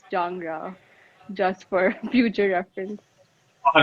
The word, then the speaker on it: Jangda: It's not Jangda. It's pronounced Jangra, just for future reference.